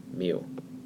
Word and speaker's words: mu: big curse of you it's a Greek letter and it's pronounced mu if you're talking about